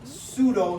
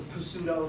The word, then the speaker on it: pseudo: silent so if you so if the p is silent you just pronounce the S pseudo stratifi it doesn't matter though you can pronounce a Pudo if you prefer but